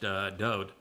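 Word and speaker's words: דוד: It means beloved, and his name is pronounced Dode.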